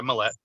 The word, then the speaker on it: Millette: can be done by Sean Millette is that how you pronounce it or me if you want to go real French you can say me yet but yeah Millette okay so whatever's easier